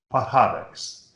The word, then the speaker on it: Pajares: Jasmine Gonzalez second, and Cristobalina Pajares from Spain third. My father, if I said, Dad, how do you pronounce this? He would give me this correct Spanish enunciation. Pajares.